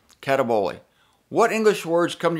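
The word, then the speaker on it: καταβολή: word greek word cataboli k-a-t-a-b-o-l-e with a little accent on the e gotta have the accent cataboli what english words come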